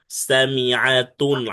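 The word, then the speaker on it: سَامِعَةٌ: সামিআতুন, আইনটা ভালো করে উচ্চারণ করতে হবে, সামিআতুন।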